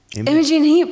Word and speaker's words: Imogen Heap: Is it Imogen Heap? Imogen Heap.